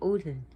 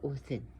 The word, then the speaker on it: Odin: And the same thing the way Odin is spelled, O-D-I. So you got O-D, then you have this D, then I-N. So Odin.